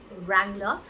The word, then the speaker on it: Wrangler: So the W again is not pronounced. This is an American brand, and it is called Wrangler.